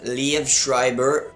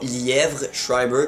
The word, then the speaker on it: Liev Schreiber: dans American Pie, avec Liev Schreiber. Je pense que c'est comme ça qu'on prononce son nom, mais c'est clairement pas Lièvre Schreiber, comme j'ai déjà vu dans certains commentaires.